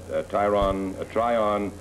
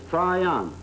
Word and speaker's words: Traian: Euro and this is Tyron Tron you give it on give it on you'll pronounce my name right the name is Trion how about that that's